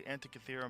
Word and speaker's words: Antikythera: Is the Antikythera mechanism?